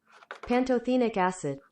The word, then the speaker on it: pantothenic acid: panto pan pantathetic acid we're going to break out the google pronunciation pantothenic acid pantothenic acid pantothenic acid okay so